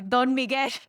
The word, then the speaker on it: Don Miguel: I pronounce it the Latin way. Don Miguel.